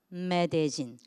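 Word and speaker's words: Medellín: Welcome to 메데진. 이걸 메들린이라고 읽지 않고 메데진이라고 읽습니다.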